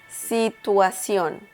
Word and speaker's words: situación: Situation is pronounced in Spanish situación. Situación. So, the intonation there, don't forget to pay attention to that.